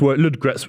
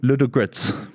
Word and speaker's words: Ludogorets: I think there's an O, just for the record, in Ludogorets. That's what I said, No, Ludogorets. you dropped the O. Ludogorets. You made it a 2-syllable word. It's a 3-syllable I said word.